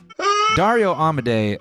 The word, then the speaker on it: Dario Amodei: ahead and help you out with how to pronounce that. Sam, won't you show them how to do that? Okey-dokey. Dario Amodei uh you know, many people see him as